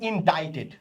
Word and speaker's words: indicted: After being ইনডাইটেড, ওকে, after being ইনডাইটেড, এটা উচ্চারণটা হয় ইনডাইটেড।